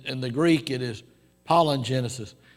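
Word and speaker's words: palingenesis: the greek it is pollen genesis now that's not spell pollen like p-o-l-l-e-n it's spelled p-a-l-i-n i guess if sarah was here she called it palin wouldn't she but uh it's pollen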